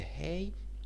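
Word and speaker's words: ה: letter our fifth letter is is hey the hay as you see it has several functions first it can serves as a consonant letter and pronounce depending on its vocalization ha who he or it can be used as V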